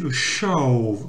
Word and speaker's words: show: Le show, alors on dit pas le show comme en français, c'est a show.